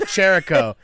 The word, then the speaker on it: Chirico: It's Chirico. Like Jericho, like Yeah, Chris Jericho.